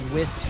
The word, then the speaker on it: WSPS: I pronounce it Wisp.